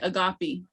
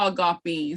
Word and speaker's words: agape: saying, because it's really, it's not Kiowa if you're not pronouncing it with the tones. And so that's how important it is. It's not agape, it's agape. So you got to really draw those syllables out.